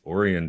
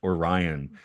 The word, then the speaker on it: Orion: the covered shopping street which is spelled Orion but it's orian Dori and the okan beer is the beer from okanawa is orian beer not Orion not Orion oh man in